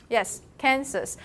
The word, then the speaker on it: Kansas: william clinton is from its ark do you pronounce the last sir in kansas you do yes kansas it's actually a algonquin name it's a native american tribe name so it's kansas and arkansas uh arkansas actually there are two